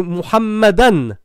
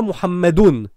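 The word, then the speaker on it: مُحَمَّدًا: Et c'est Muhammadan. C'est pas Muhammadun. Parce que c'est Anna.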